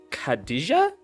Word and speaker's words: Khadija: Khadija? You got it right. Oh yeah, yes. I was trying to pronounce it in my head, but it's I gotta figure this out.